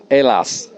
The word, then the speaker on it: Hallas: with two members from a band called aylas alas yeah that's right pronunciation so first of all thanks uh for